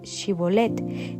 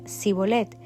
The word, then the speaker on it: Shibolet: Ellos le pedían que pronunciara la palabra Shibolet. Si era de Efraín, diría si bolet, porque a la gente de Efraín se le cuesta pronunciar bien esa palabra.